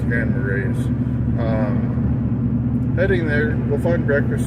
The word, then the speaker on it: Grand Marais: Is it Marais? I think I've been saying it wrong. I think it's Grand Marais.